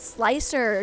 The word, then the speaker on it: slicer: Okay, if you want to know how to pronounce slicer. Oh, it's slicer, just for reference, but is okay.